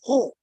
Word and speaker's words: He: HE is not he, it is pronounced as ho, and it means the sea.